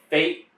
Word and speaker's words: PH8: So that's Fate Sober Lounge and Restaurant. It's spelled PH8 if you're trying to Google it and look it up.